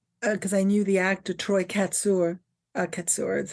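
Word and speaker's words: Troy Kotsur: Sometimes you feel, when I saw the movie Coda, because I knew the actor Troy Katsur is how you say his name, who plays the father in Coda.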